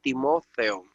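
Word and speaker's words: Τιμόθεος: En el caso de Timoteo, entonces la acentuamos en la E, Timoteo, pero en griego es Timotheo.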